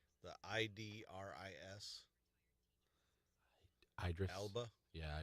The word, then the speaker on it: Idris Elba: The Idris Idris Elba. Yeah, Idris Elba. Idris Elba. I know who he is. Yeah, yeah. But I always can't. I think it's Idris. Idris.